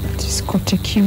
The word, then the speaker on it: discotheque: Discotheque.